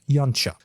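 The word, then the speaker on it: Yautja: thus cut himself confused the actual pronunciation of the most used species named for the predator species is something like young chuck with that corrected we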